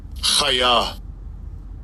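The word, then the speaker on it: חָיָה: And I'll give you a pronunciation. Strong's H2421. Chaya. Chaya.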